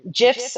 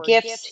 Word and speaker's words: GIF: Now um GIFs or GIFs, you'll hear them pronounced either way.